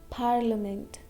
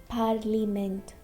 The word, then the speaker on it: parliament: And parliament, parliament. Okay, not parliament, parliament.